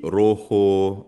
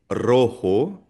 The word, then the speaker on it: rojo: So for example, ang letter R, kapag ang simula ng salita ay letter R, ang basa dito ay hindi roho rio, rapido kundi rojo rio, rapido.